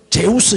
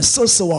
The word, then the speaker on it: 제우스: 제우스 신이라 하고, 바울은 그 중에서 말하는 자이므로 뭐라고? 헤르메스 신이라 하더라. 옛날 성경에는 서스와 허메라고 되어 있는데 그 헬라어 발음이죠. 이 제우스 헤르메스는 헬라어식 발음이에요. 서스가 제우스고 허메가 헤르메스예요.